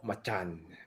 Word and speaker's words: Macan: Actually, the way to say it is called Macan because that's how you say it in Indonesia.